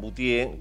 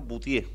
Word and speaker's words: Buttié: Pronuncié bien tu apellido, ¿no? Boutier. Sí, Boutier. Así ¿Qué, está ¿qué francés esto?